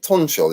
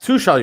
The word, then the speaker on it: Tuchel: saying before, would you not take is it Tunchel? Is that how you pronounce it? We know what you're talking about. It's calm. Let it run. Yeah. It's cool. Who's that? Tuchel, you mean?